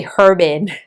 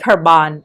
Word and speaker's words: Herbin: It's more scandalous to say Herbin. No, that's very disrespectful. So, I think Herban Herban is okay.